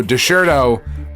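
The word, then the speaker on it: Dexerto: So Desherdo, which is apparently how you're supposed to pronounce that according to a video that I saw of them, reports that Iron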